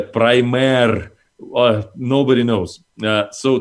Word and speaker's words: Primare: the origin of it well the joke is we don't care as long as you save prime air in some version or another but strictly speaking in